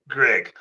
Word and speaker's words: Ggreg: It should come out as it looks like Greg, but that's not how I pronounce it.